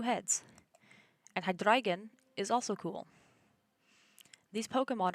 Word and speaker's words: Hydreigon: And Hydreigon is also cool. These Pokemon are pronounced with... I'm pronouncing them with the German pronunciation, as they contain the German words for 1, 2, 3.